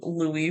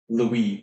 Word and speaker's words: Louis: Um, I was writing Louie for a while instead of Louiswis in my notes because I just assumed his name would be Louie based on how it's spelled. So, my bad. Um, yeah, it's not E W I S Lupus. It's O U I S. Louis.